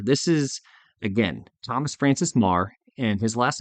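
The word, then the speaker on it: Meagher: variety of ways but looks like meager but I've always heard it pronounced Mah but marah was an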